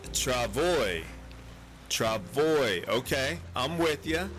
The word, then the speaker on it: travois: Apparently it's pronounced Travoy.